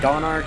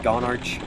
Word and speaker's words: Gonarch: called the gone arc I think it's supposed to be pronounced like Don argh I don't think it's supposed to be gone arch that's all right side